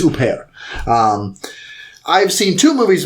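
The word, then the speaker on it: Huppert: bear i think yeah he just told me how to pronounce her name i think it's au pair um i've seen two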